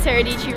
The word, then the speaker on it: Sara Dietschy: My name is Sara Dietschy, rhymes with Peachy.